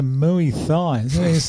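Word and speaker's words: Muay Thai: and three decisions she's a muy thine that's exactly how you say it brad yeah uh style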